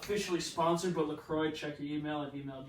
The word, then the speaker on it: LaCroix: Yeah, LaCroix.